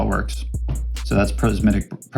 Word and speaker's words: prismatic: So that's prismatic. How do you say that? Prismatic. There you go, prismatic. I kept wanting to say prasmatic.